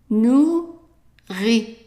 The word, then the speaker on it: nourrit: a long word, and be careful because it looks like an English word, but it is not pronounced the same way. So let's break it down. So the OU is pronounced as a long oo, oo. So if we have N-O-U, how would we pronounce that? Right, nu, nu. And then we have an I. The I in French is pronounced as an I, I.